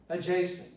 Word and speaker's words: adjacent: So people, the speakers, natively have decided that they are not going to pronounce the D in a very regular form.